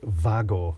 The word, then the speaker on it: WAGO: I know I'm pronouncing Wago wrong. It's Vago, sort of thing like that, but yeah.